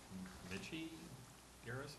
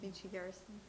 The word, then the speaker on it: Michi Garrison: Is it Mitchie Garrison? Michi Garrison.